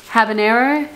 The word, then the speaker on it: habanero: Is that how you pronounce it? Yeah, habanero.